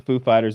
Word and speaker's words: Foo Fighters: and he asked the Foo Fighters he's like do I put the accent on the on the fool or Fighters and they're like on on Fighters ah so we comes